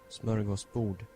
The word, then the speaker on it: smörgåsbord: Smorgasbord. Smörgåsbord. Smorgasbord. Interesting. That is a very interesting way of pronouncing that.